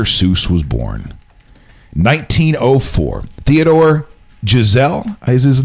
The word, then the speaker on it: Geisel: It looks like Geisel. Geisel? Mm-hmm. Not Giselle. Giselle.